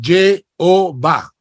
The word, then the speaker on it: Jehová: Si a ese tetragramatón tú le añades las letras E, O, A, se convierte en Jehová.